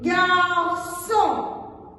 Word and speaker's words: garçon: Nous avons le garçon. Son. La, le, son. Le CCD, il se prononce toujours S, même s'il est devant un O, ou bien un O, ou bien un U.